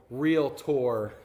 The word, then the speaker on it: realtor: to school you on the correct pronunciation is a two syllable real tour no third syllable in there Harrison is being nice